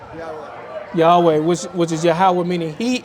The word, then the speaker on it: Yahweh: So when you look at the Tetragrammaton, it's pronounced Yahweh, right?